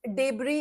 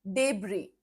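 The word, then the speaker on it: debris: डेबरी इज the right pronunciation. ठीक है? डेबरी।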